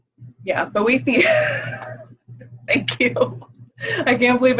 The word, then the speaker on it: Boethius: Boethius. Yeah, Boethius.